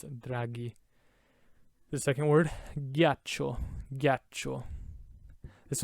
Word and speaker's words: draghi: that draghi draghi right without the h it would be g dragee but with the h it's draghi the second word gyacho